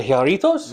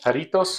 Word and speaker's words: Jarritos: The Jarritos? Yes. Or Jarrito? How do you say that? Jarritos, I think.